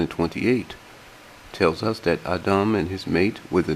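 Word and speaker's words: אדם: Strong's reference H120 is pronounced Ahdum.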